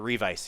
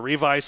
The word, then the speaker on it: Revice: All right, so now the other thing that they do once it's spelled like revise, right, or revice with a it's C.